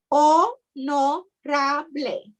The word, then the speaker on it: honorable: um uh honorable so honorable spelled the same way but pronounced o no rabble go ahead i'm sorry